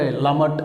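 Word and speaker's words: למד: இந்த எழுத்தை லமட் அப்படின்னு உச்சரிக்கிறோம்.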